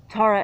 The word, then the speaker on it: Tara: Now if you look at phonetically, T-A-R-A. So if the A's match phonetics, and ta, ra.